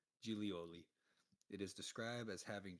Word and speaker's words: Giglioli: Gigglyloid, however you fucking pronounce that. Right. Gigglyloides whale. BIG. Reported species of whale observed and named by Enrico Hillier. Oh, nice. There's a pronunciation here. Gilioli. Gilioli.